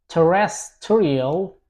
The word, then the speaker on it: terrestrial: Okay, next word is terrestrial. Terresttorial. As you can see, we have the stress here on the second part.